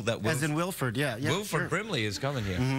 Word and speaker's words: Wilford: as in Wilford yeah Wilford Brimley is coming here I sometimes want to say Wilfred Wilfred wi for it's yeah